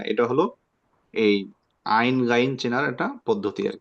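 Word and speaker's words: ع: এটাকে তিন ভাগ করে মাঝখানের যে অংশটা আপনি চাপ দিয়ে ধরেন মাঝখানের অংশটায় চাপ দিয়ে ধরে সেখান থেকে শক্ত করে উচ্চারণ করবেন আমরা পড়ি সকলে একসাথে পড়ি আইন এই যে আমরা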